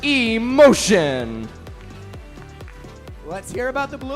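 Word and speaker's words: Σ Motion: They're pronounced Emotion.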